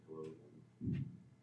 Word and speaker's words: globin: for oxygen yeah um I think you mean globin oh globin okay sorry um oh yeah yeah yeah globin okay so fetal hemoglobin Oh you mean wait what just like the way I'm pronouncing it yeah because gulin are something else okay yeah okay uh